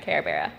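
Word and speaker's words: Karebearuh: Instagram, Kara Bera. Kara Bera? Spell it.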